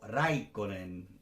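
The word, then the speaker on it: Räikkönen: Es Häkkinen, no es Häkkinen, como diríamos en español, es Häkkinen. O Raikkonen, no es Raikkonen. Eso, la primera sílaba, eso es importante tenerla en cuenta.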